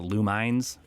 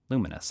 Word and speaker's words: Lumines: yeah yeah I think I always for a long time I called it Lou mines yeah I realized like oh is that luminous I think I guess